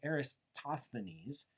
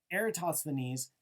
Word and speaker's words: Eratosthenes: And over 2,000 years ago, a very smart Greek dude named Eratosthenes, Greeks not the best people for making easy to pronounce names in English, Eratosthenes not only figured out the Earth was round,